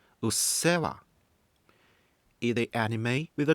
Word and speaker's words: うっせえわ: Does Ado have a song called OOSEHWAH? The correct title is うっせえわ.